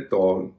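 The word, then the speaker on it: tall: एम A double Emil T A double L टॉल double A ड एल ल यहां भी एक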